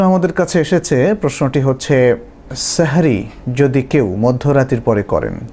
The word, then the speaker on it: সাহুর: সাহারি মধ্যরাতের পরে করলে কোন অসুবিধা নেই। তবে সাহারির ক্ষেত্রে যেটাকে আরবিতে সাহুর বলা হয় মূলত সাহার অথবা সাহুর। বাংলায় যদি আমরা সেহরি বলি শব্দটার আরবি উচ্চারণ হচ্ছে সাহুর।